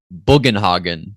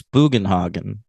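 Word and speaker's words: Bugenhagen: like when Dame when Sam Neil says boen hogen did you catch that oh he mispronounces it it's buen hogen we said we said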